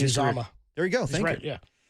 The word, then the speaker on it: Uzomah: There's right, by the way, it's Uzomah.